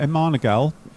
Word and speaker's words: MMANA-GAL: have a look at a manal you can pronounce it how you want apparently um I'll tell you why